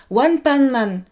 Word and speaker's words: One Punch Man: Au fait, vous savez la prononciation japonaise de One Punch Man, c'est One Pan Man.